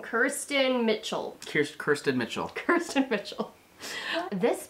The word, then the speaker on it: Kiersten Mitchell: Kiersten Mitchell.